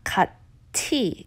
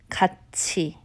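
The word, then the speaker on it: 같이: cut T it's not cut T you would think it would be cut T with the T sound it's actually a CH sound cut she Haru one day a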